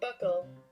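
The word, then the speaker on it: buccal: of your buckle region is that how you say it buckle buckle buckle i got it right this is your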